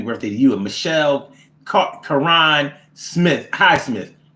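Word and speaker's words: Caron: And Michelle Karan Smith, Highsmith. Now that could be Michelle Karen, but it's spelled with a C. C-A-R-O-N. I think that's Karan.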